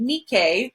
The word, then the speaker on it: Nike: a wing so more specifically the wing from nikkei nikkei is how you pronounce it in mythology um greek mythology whoops